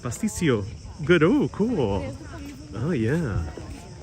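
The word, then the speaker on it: pastitsio: Emily says I did pronounce it pasticcio.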